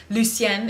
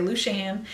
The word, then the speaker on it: Lucien: by my middle name, which is Lucien, if you pronounce it correctly, but we're a little bit hillbilly. We're on the Florida Alabama border, so we all say Lucian.